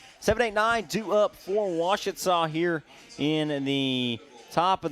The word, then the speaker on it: Ouachita: up for Ouachita here in the top of the second.